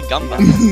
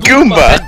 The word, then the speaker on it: Goomba: Ben, is it pronounced Goomba or Gumba? Goomba! Goomba!